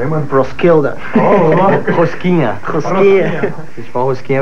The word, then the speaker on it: Roskilde: Como é que é a pronúncia aí, mano? Roskilde.